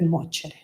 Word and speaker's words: nuoce: il male vien per nuocere. Every cloud has a silver lining. Mi piace. As you should know by now, in Italian, a C and an E together are pronounced ce, nuoce.